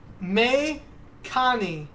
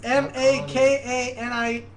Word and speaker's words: Makani: Okay, so wind in Hawaiian is me kani. Mekani! Mekani, Mekani, Mekani! Sounds more Indian. No, it's Hawaiian, dude. I totally just... Hawaiian, did we say that correctly? Spell it. Mekani! It's Mekani. it's M-A-K-A-N-I.